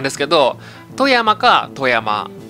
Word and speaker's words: 富山: 3 つ目は小山のイントネーションはビーズと同じですってことなんですけど富山カー富山 b 柄